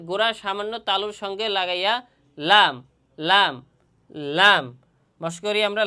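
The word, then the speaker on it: لام: বলা হয় লাম লাম আর এই লাম হরফটি উচ্চারণ স্থান মাখরাজ কোথায় জিহ্বার আগার কিনারা জিহ্বার আগার কিনারা সামনের উপরের দুই দাঁতের গোড়া এবং সামান্য কিছু তালুর সঙ্গে লাগাইয়া লাম লাম হরফ উচ্চারণ হয়।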